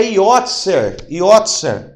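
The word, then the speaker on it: יוצר: A palavra oleiro é yotzer, ó, yotzer. A palavra oleiro é yotzer. Como que se escreve yotzer?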